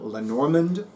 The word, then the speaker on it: Lenormand: systems one is called lerond or to use the Americanized pronunciation Len norand and the other one